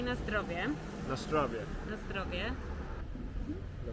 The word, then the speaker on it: na zdrowie: You say na zdrowie.